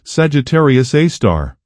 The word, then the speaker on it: Sagittarius A*: and they named it Sagittarius A asterisk, pronounced Sagittarius A star.